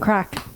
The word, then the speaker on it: craic: crack is spelled CRAIC, as in fun, not the drug.